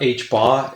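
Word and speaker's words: ħ: pi is equal to H bar so you pronounce that H bar it's essentially direct version of Planck's constant we'll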